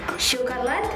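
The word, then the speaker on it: шоколад: Chocolat. Ya. When D is at the end of the sentence, we say T more than D.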